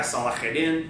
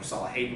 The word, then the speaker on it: Salahuddin: the same banner of this guy Salahuddin, right? Or Salahadin, depending on how you want to pronounce it. In English, we would say Salah, right?